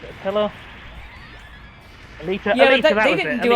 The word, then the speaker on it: Alita: Exactly, or Battle Angel, I can never remember how you pronounce it, Pillar? Alita, yeah, Alita, they didn't do a live act, like, but they that is but they well didn't do known, like a...